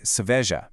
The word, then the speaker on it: cerveja: The emphasis is squarely on that second syllable, ve. You say seveja, keeping those first and third syllables much lighter.